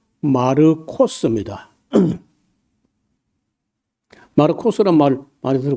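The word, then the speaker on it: Μάρκος: 근데 그 마가 말고 원래이 마가라는 말은 우리가 발음할 때 마가라고 했는데 좀 그이 이름이 원래는요 헬라어로 말할 때는 여기 보시면요 마르코스입니다.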